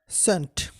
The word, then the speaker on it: scene: সিন, SCENE, এখানে সি এর উচ্চারণটা হবে না, হবে সিন, সিন অর্থ দৃশ্য বা নাট্যমঞ্চ।